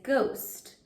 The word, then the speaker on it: ghost: First, I'll mark the H as silent to remind us that the GH at the beginning of a word says G. Next, I'm going to mark the vowel. The vowel is part of the OST, vowel family. Underline the vowel family and mark the vowel long. The word is ghost.